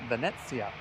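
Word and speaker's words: Venezia: Ah, and Soloff says, "Here in Norway, we pronounce it Vanetsia.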